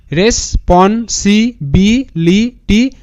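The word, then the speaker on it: responsibility: RES race, এবার যে PON পন, SIC BIB LI লি, TY টি, রেসপন্সিবিলিটি, রেসপন্সিবিলিটি, এরকম করে উচ্চারণটা করবে, রেসপন্সিবিলিটি, রেসপন্সিবিলিটি, রেসপন্সিবিলিটি, এরকম করলে কিন্তু ধীরে ধীরে ক্লিয়ার হয়ে যাবে।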